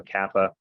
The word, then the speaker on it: kappa: So Kappa, it's always a hard C, like in cat, or like the K in kangaroo. It's never a soft C sound like in city. It's always the K sound.